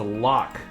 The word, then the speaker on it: Lock: we'll move on to lock or is it locked how do you want your name pronounced uh lock lock it is lock what do you do